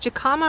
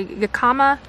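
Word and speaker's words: jicama: these seeds these jacama it's either pronounced jacama or Yakama something like that I bought these seeds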